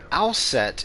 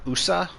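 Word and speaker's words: Aset: pronounced that way uh it was probably something like usa um in pharonic history and then uh from known sound changes it becomes uh asa what is someone spamming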